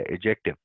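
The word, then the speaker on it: adjective: इसका डी जो है वैसे अ इंग्लिश लोग वो कहते हैं कि इसको नहीं बोलते। इसको प्रोनाउंस नहीं करते। जैसे फ्रिज में एफ आर आई डी उसमें भी डी जो है हम प्रोनाउंस नहीं करते। तो वो कहते हैं ये साइलेंट है।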